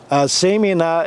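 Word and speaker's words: Asimina: all listed in the asemina genus semina is the botanist pronunciation of a word from uh native north american language the powhatan tribe called them asimin and another tribe i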